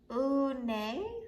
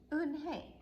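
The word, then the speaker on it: Unhei: no no hey corrected it's spelled u n h e i it's pronounced un hey oh it's you hey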